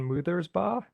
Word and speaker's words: Mutherba: My name is Mutherba. It's pronounced moo like a cow, ba like a sheep, moother's ba.